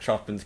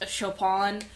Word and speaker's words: Chopin: And I know I mispronouncing Choppin, by the way, just like it's uh actually pronounced Chopon. It's actually chopping just like it's bethin.